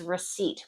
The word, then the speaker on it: receipt: This word here is receipt. When you pay for something, you get back a piece of paper. Receipt. That P is always silent.